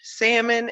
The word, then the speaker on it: salmon: If this man were to order salmon and pronounce the L, it would throw off my whole night.